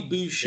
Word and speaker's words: Boucher: um and then also is it boucher is that the right pronunciation yeah just like bobby boucher yeah chris yeah he's